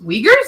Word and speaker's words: Uyghurs: do you pre oh uyghurs uyghurs that's how you pronounce it okay wait like yours doesn't sound like that's right I'm trying